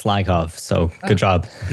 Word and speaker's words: Lyakhov: Yeah, you you actually were probably one of the first people to pronounce it right. It's Lyov.